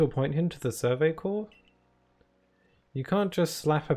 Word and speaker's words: corps: I'm saying Survey Corps and not Corpse. Because A, corpse is like dead body.